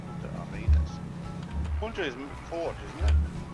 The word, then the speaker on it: Arenas: our well there, and we're going to Punta Arenas. No, Arenas. Punta Arenas.